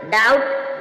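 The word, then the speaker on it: doubt: बी से पहले एम होगी जब भी एम साइलेंट रहेगा ट ट मीस कज इसी प्रकार डाउट डाउट मीन शक य पर भी टी हमने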